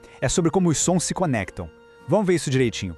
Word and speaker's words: ce: Se a palavra for masculina e começar com um som de consoante, a gente usa se. A pronúncia é bem curtinha, bem fechada, quase um estalo.